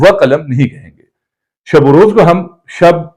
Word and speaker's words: شب و روز: بھی ایک نکتہ تھا کہ بعض لوگ عربی طرز پہ شب و روز، دین و دنیا، تو یہ پڑھنا جو ہے یہ غلط ہے۔ دین و دنیا نہیں